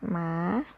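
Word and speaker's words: หมา: So when you put H in front, it become rising tone.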